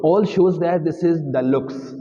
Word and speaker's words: deluxe: learn earlier Deluxe but sorry it is not Deluxe it is the looks it is the looks white is the looks because it is French term is pronunciation right they mean double looks mean luxury l u x u a r y luxury so it is double luxury is called the looks not Deluxe it is